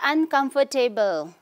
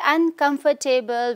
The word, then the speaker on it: uncomfortable: We don't say uncomfortable, okay. If we say uncomfortable, we are pronouncing this word wrong, okay. Here, when you pronounce this whole word, okay, we have to, in a way, say, you have to reduce the word O-R-T here.